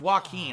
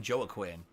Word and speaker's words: Joaquin: put into you're right it's pronounced joaquin I keep her saying Joey Quinn it's Joaquin Phoenix Joaquin I always forget that and I say Joey Quinn instead of Joaquin I don't know why